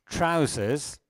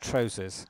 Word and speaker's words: trousers: It's not tro. Okay, I heard somebody say trousers. It's not trousers. It's with an A. It's trousers. Okay? I know there's an O in the spelling, but English is a strange language. Okay? So this O is A. So it's trousers.